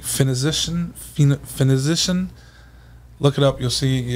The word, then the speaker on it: Phoenician: It's like Phoenician. Look it up. You'll see. It's a hard pronounce. Phoenician? Phoenician.